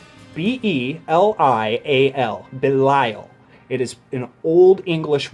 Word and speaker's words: Belial: name this led to them calling him ultraman Bailey Isle and then everyone since then saying the same